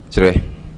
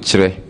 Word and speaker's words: Kyere: And u pronounce ne sen obo ni dino sen Chire. We pronounce it, I pronounce it Chire. Chire.